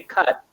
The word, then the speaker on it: cut: I say cut, you can see Mm. that I don't pronounce the T.